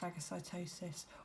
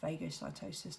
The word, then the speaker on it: phagocytosis: okay so that's the engulfing using that process phagocytosis or phagocytosis depending on how you want to say it